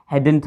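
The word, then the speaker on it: hadn't: बिल्कुल सही कहा आपने, हैडंट हम इसको बोलते हैं, हैडन भी कह देते हैं। कुछ जो ब्रिटिशर होते हैं, नेटिव स्पीकर होते हैं, वह हैडन भी प्रोनाउंस कर देते हैं, ठीक है।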